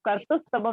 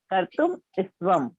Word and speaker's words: कर्तुम स्तवम: जैसे एक जगह आता है कर्तुम स्तवम, तो कर्तुम अलग पढ़ा जाता है, स्तवम अलग पढ़ा जाता है, उसमें आप कर्तुस्तवम नहीं बोलेंगे, कर्तुम स्तवम।